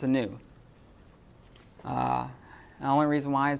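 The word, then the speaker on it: νῦ: You'll be pronouncing this word, nu, as a V a lot of times when you first start because it looks like a V.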